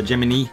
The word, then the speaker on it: Gemini: in this case we've got a Lotus tuned Gemini her jiminy as it's pronounced here and there's something wrong with it